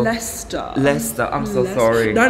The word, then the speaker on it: Leicester: to see him anyway lichester is written and pronounced so Lester Lester I'm so sorry